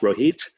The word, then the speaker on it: Rohit: His name is Rohit. It's pronounced Rohit, and the last name is Chopra.